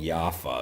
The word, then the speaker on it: Jaffa: They're like little wafer cookies called Jaffa is how you pronounce it, but chocolate with wafers.